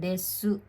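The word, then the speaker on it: です: sila ng salita nila nagiging parang silent you Ganun po sila kunyari Um yung Des nila yung Desu yun yung parang pinaka po nila po Opo Desu pero pag binibigkas na ng mabilis nagiging Des Des na Des na lang po Parang nawawala na yung u ganun po so uulitin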